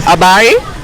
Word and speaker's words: Habari: Habari. Yeah, but the R is a bit it's like a Spanish R.